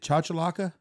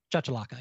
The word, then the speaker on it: chachalaca: the the chocolate how do you say it chachalaca chachalaca yeah charge the locker and that that's that's